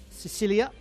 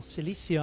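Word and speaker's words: Cilicia: It was at one point part of the Roman settlement of Sicilia or Celissia I should say. I should say that because it's the correct pronunciation.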